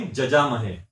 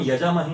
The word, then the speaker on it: यजामहे: जैसे संस्कृत में य जब लिखते हैं तो उसका जब उच्चारण किया तो ज किया जाता है। जैसे यजमान बोला जाता है, जजमान लिखेंगे, यजमान बोलेंगे, जजमान, यजामहे जजामहे बोलते हैं ना। त्र्यंबकम जजामहे सुगंधिम पुष्टिवर्धनम, त्र्यंबकम यजामहे नहीं, जजामहे।